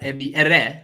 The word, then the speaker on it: Ebi Ere: No, well, just a little bit about Ebby Ere. Actually, that's the way you pronounce it.